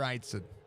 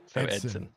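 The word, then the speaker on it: Eidson: Is it Eatson or Eitson? Neither. Oh. The I is silent. So Edson.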